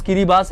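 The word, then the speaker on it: Kiribati: है किरी बास यस इसका प्रोनाउंस किरी बास है किरी बास एक कंट्री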